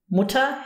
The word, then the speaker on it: Mutter: For example, if you use the word Mutter, Mutter has an E-R, but the emphasis is on the U, Mutter. You cannot hear the R at all.